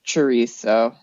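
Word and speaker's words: chouriço: discussed the pronunciation of cheso and I guess in Portugal it's a little bit more like SHO Sho it's a more of an S sound um but pretty close to chisso so shuo I might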